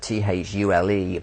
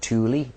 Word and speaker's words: Thule: The very bottom one of those is an island called Southern Thule, which is spelled Thule, but I think in German is pronounced Thule. Thule.